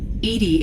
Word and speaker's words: EDI: Edy is the phonetic pronunciation of EI.